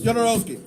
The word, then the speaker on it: Jodorowsky: In Spanish, the J is usually silent. So I'm like, it's Alejandro Jodorowsky. So that's what I'm going. That's how he pronounces his name.